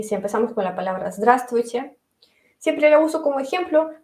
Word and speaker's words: здравствуйте: Todo el mundo dice здравствуйте cada día y claro, tenemos una versión más ligera de cómo pronunciarlo, decimos здрасте, здрасте, ¿sí?